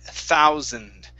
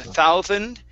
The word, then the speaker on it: thousand: Okay, now let's try the word thousand. Instead of thousand, okay, on that S, push the tongue in.